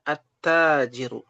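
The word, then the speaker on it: التاجر: Ketika bertemu dengan alif lam maka dibacanya attajiru.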